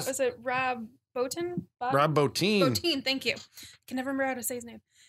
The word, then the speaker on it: Bottin: Bottin, thank you.